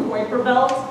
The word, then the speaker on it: Kuiper Belt: There's a place called the Kuiper Belt, sometimes pronounced Kuiper Belt.